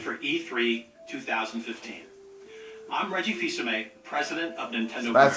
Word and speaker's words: Fils-Aimé: I'm Reggie Fils-Aimé, president of Nintendo.